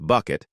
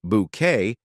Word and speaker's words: Bucket: routledge's legendary portrayal of Hyacinth Bucket who famously insisted her last name be pronounced bouquet captivated audiences worldwide but as